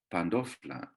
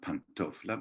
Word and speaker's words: pandofla: Pandofla, it's the nd in the Cypriot Turkish, shows us that the word goes through the pronunciation of Cypriot Greek. It's not pantofla, but pandofla.